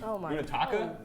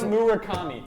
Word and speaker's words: Murakami: Munitaka.